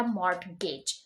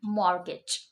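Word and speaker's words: mortgage: तो इट्स नॉट अ मॉर्टगेज. मॉर्टगेज नहीं है, इसकी प्रोनाउंसिएशन है मॉर्गेज.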